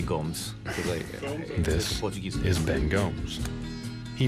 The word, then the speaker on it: Gomes: Well, the correct pronunciation is Gomes. This is Ben Gomez. But I say Gomes.